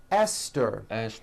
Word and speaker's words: Esther: spelled with a TH, they are pronounced as if they were spelled with a normal T, like that. And these words are Thomas, Thompson, Teresa, Thailand, Thames, like the river, Esther, and time, which is a spice.